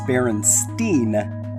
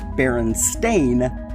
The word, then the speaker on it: Berenstain: I remember people mispronouncing it as Berenstein, but I vividly recall it being spelled and pronounced as Berenstain on the TV show.